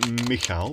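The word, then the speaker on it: Michał: gift from Poland sent for our entertainment by mik I think I pronounced that correctly it's the Polish equivalent of Michael and it's pronounced uh mik but spelled m i c h a l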